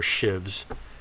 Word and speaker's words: sheaves: It says the pitch length of a belt is the length of the pitch diameter of the sheaves or shivs, if you prefer to pronounce it that way.